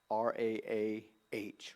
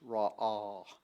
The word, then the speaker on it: Ra'ah: R-A-A-H, Ra'ah. The pronunciation would be R-A-W/A-W.